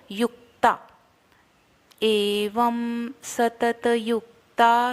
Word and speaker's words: एवं: एवं व के ऊपर जो डॉट है उसको हम म का उच्चारण करेंगे, तो एवं, एवं माने एवं, सतत, सतत पूरा बोलना, त पूरा बोलना, तो सतत युक्ता।